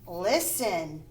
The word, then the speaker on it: listen: Listen. The T is silent. Listen.